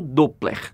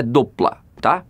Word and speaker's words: Doppler: a gente o brasil chama sempre de efeito doppler mas a pronúncia correta do plata então fica essa curiosidade da pronúncia embora de